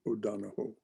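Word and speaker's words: O'Donohue: o donna hugh he's an irishman so it's pronounced o'donoho i read the poems of john o'donnell donahoe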